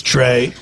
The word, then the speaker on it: Trey: Who else do we have with the family Over here is Trey. Trey. Trey's the oldest boy. Hey. Trey, you say hey, which rhymes with your name.